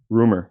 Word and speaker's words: RMR: getting these interviews popping all time the name rumor right but it's spelled RMR yeah right how did you come